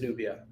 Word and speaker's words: Nubia: It is Nubia.